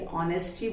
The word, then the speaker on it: honesty: Now here honesty नहीं बोलते हैं, H is silent. We will be learning about the silent words later. अभी आप इतना ध्यान रखिए कि honesty बोलते हैं, H उसमें silent रहता है.